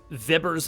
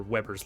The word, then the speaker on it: Weber: something called uh uh viber's law or Weber's law depending on how you want to pronounce it um the idea is